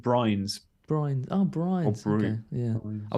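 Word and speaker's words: Bruyns: um brains says surname is pronounced brains yeah i said it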